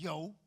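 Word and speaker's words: 有: All I know so far is the word in Mandarin for have is yo.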